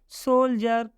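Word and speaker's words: soldier: इसको हम क्या पढ़ेंगे इसको हम जर पढ़ेंगे इसलिए हो गया सोल्जर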